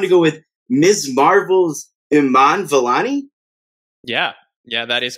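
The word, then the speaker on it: Iman Vellani: apologize i i don't actually know the correct pronunciation of her name i'm going to go with miss marvel's iman valani yeah yeah that is correct uh she was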